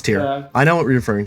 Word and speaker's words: Tyr: of sacrifice yes okay tyr is how it's spelled I know how it's spelled I know what God it's tear I know what we're